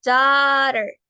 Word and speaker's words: daughter: Y tenemos la palabra daughter, escuchen bien, la H y la T suenan como la R en español, daughter.